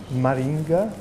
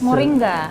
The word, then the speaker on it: Moringa: mention uh something that probably I Mis pron pronounce uh Maringa it's a flower it's a plant in an yes uh somebody introduced me to this flower which you can use for tea for cakes Moringa Moringa thank you for helping me H and